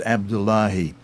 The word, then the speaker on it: Abdullahi: I think I mispronounced his name earlier, but it's Abdullahi.